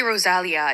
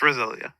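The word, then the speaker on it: Rosalía: know know how to I always say Rosalia in my head I used to say that but it's Rosalia um no I'm the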